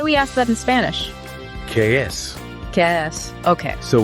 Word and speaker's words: qué: So we have ¿Qué es esto? For what is this? Okay. And ¿Qué es eso? For what is that? It's almost like what's that, but with a K sound at the beginning.